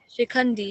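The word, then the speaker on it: Shikhandi: How do you pronounce Shikandi? Yes, Ikandi. Yeah, Shikandi, yeah, Shikandini, yeah.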